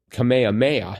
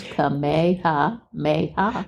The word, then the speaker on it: Kamehameha: Well, it really kind of looks like it sounds Kamehameha.